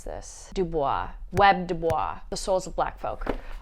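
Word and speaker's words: W.E.B. Du Bois: People told me how to pronounce this. Webb Dubois.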